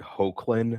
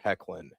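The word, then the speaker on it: Hoechlin: a kid I was at first I thought it was Tyler like Hoan or Hochlin I think is how I pronounced it but no I I I think it's Tyler Heckan if I'm not mistaken which makes a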